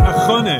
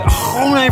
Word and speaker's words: Axone: Your pronunciation is really bad, man. It's ahone. Ahone. Yeah. Wait, you've got to really say ahone from your throat.